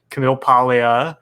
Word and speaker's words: Camille Paglia: Camille Paglia. Yeah, we all love That her. was beautiful. Yeah. Thank you. Beautiful pronunciation.